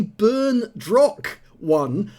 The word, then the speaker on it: berndroc1: of battle results and i got his name wrong it's actually burn drock one uh so i do